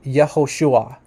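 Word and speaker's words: Yehoshua: d-dot says here that the classical pronunciation which means like the pre-exilic name of of yeshua is actually yahushua yahushua okay so this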